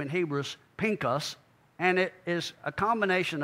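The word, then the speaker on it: פינחס: name out of the four is FAS or Phineas the way you may have been accustomed to call him his actual the the way you pronounce his name in Hebrews Pinkus and it is a combination of pay and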